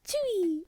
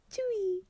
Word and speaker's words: Tzuyu: like Chewy. I was like, oh, that's so cute. She's like, how do you want it to be pronounced? She's like Chewy.